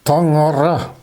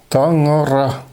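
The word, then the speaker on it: Таҥара: On prononce ce mot en yakut Tangara. Tangara.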